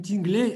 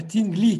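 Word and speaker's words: Tingley: Дело в том, что имя Тингли читается не Тинглей, а Тингли читается.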